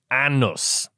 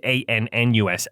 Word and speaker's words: Anus: Despite its unusual spelling, the community's name is traditionally pronounced Annus. So, the phonetic is A N N U S, Annus.